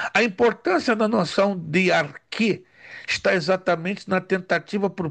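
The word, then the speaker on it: arché: Isso aqui eu acho fantástico dentro das noções fundamentais da filosofia, é que encontramos a noção de arquê. Arque também pronunciado como arre. Arque ou arre tá lá na página seguinte, a 17.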